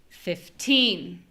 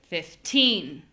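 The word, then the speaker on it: fifteen: So we do have a little bit different pronunciation here because we have teen versus T, but I mean, that little N is a very small thing. So where we really feel the difference is in the stress.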